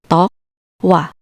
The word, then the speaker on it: tokwa: Letters K and W should be separate, so read it as tokwa, tokwa.